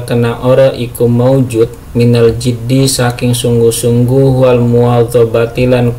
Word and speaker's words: الجد: Ini bacanya jad ya. Faslun fil jiddi, maaf kasroh, yaitu jiddi, wal muwadhabah lan muwadhabah kontinuitas, wal himmati lan semangat.